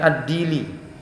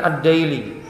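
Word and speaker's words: الديلي: Ada yang menyebutnya dengan Ad-Dili, ada yang membacanya dengan Ad-Daili. Kenapa disebut dengan Ad-Daili?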